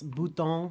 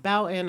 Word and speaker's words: Bouton: It's French. It's Bouton is how it's. I thought it was French. Yes, but so I've heard Boutin.